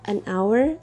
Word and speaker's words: hour: also happened with word hour and honor because the consonant H is silent so we use an article here an hour an honor now let's